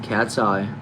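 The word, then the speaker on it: KATSEYE: It says, by the way, not trying to be rude, but it's pronounced cat's eye, but spelled with a K.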